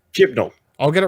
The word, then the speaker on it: Chibnall: It's directed by Jamie Childs and written by Chris Chibol? Do you say Chibol? I suppose that's how you say it, right? We better get this right for the future. There's an N. Okay. Chimlo. Okay. Chibnall.